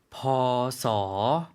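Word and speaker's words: พ.ศ.: 어떻게 발음 하나 요 ? 보소 . 훨씬 쉬워졌죠 , 그렇죠 ? 일반 적 으로 " 보소 " 라고 발음 할 수 있습니다 .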